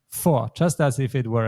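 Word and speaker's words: vor: letter F but actually this is pronounced exactly the same way as F in German so it's not V but it's for just as if it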